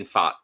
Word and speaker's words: Pfaadt: And how did you pronounce the other guy's name? Fat? Brandon Pfaadt. Pfaadt.